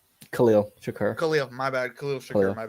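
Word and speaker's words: Khalil Shakir: Hollins, I'm going to say his name wrong. I think Sharif, right? Khalil Shakur.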